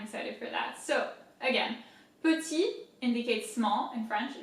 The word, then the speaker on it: petit: So again, petit indicates small in French, it means small. Petit, here the T at the end is silent.